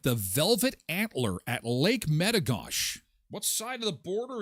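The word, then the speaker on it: Metigoshe: It's called Lake Metagosh. The Americans call it Lake Metagosi because they're not French. Well, neither are we. But we we have French people here. So, we use the French pronunciation of Metagosh.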